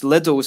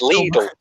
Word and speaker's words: Lidl: It's like the Germans call it Lidl. It is Lidl. Like, it annoys me so much. So I'm like, no, you learn to pronounce it in the native way.